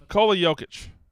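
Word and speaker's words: Nikola Jokić: Nikola Jokic.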